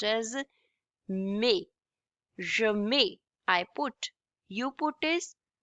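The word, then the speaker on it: mets: This is pronounced as may. Okay. M E T S ending Ts we do not pronounce it and it's pronounced as may I put you put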